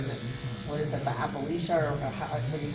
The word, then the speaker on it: alopecia: through cancer or just, what is it, the alopecia or however you pronounce it? Alopecia. Yes, alopecia.